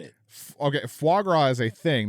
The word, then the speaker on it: foie gras: Okay, foie gras is a thing, not a Foie verb. gras. And foie is what I'm saying, not foie. Fogwad.